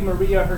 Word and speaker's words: Maria: it the other one this looks like Maria her name's pronoun pronounced Mariah so we get these two